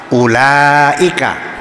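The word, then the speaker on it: أولئك: Kalau pakai ilmu nahwu bacanya U laika. Betul enggak? U kan ada wawunya. Tapi ternyata yang ada wwunya dibaca pendek, yang ada alifnya dibaca panjang.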